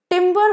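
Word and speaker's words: timbre: तो नेक्स्ट वड पेर इज टिंबर सेम प्रोनंसिएशन एक में ई आर है दूसरे में आरई है तो ईआर वाला टिंबर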